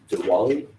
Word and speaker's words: Diwali: Diwali, I believe, is the pronunciation of that.